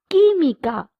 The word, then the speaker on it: química: La química, chemistry. QUI is pronounced as ki.